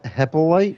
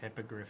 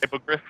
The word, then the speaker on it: Hippogriff: Hippolyte? Hippogriff. Hippogriff.